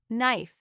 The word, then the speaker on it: knife: There is a word knife. We see K, but K does nothing.